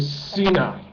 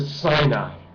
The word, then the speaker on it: Sinai: all that is the Cena or the Sinai is how it's pronounced in the west the Sinai Peninsula is